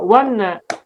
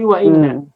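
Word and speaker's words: وإن: Tak boleh baca wanna, tapi wa inna.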